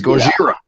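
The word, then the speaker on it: ゴジラ: Technically, we don't even say Godzilla's name right. You're not saying Godzilla's name right. It's Gojira. Gojira Yeah.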